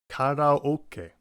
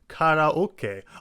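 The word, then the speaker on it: カラオケ: You should be able to hear each individual vowel when pronounced properly in Japanese, and you can even tell how in the Japanese pronunciations the ka at the beginning of each word is the same. Karate, karaoke, unlike in English where it's karate and karaoke.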